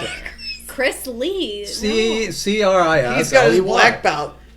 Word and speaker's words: Chrisley: I thought that was No, how they it's pronounced it. Chris Lee.